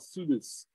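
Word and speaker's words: ψευδής: This word for liar in this text is a word called, in the Greek, called pseudes. That's P-S. P is silent.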